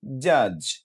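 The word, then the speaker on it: judge: যেমন জে ইউ ডিজি জাজ জাজ। খেয়াল করুন এখানে কিন্তু এই ডিটা উচ্চারিত হচ্ছে না।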